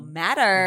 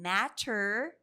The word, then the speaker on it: matter: The T in the middle is pronounced as a soft D sound. Right. So, instead of saying matter, they we say it as matter.